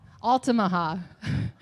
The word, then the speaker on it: Altamaha: Altamaha.